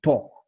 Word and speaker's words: torque: actual weight so the the pronunciation for this is talk just like the way you say talk talking talking talk so but it's it's it's pronounced as talk so i'm sure you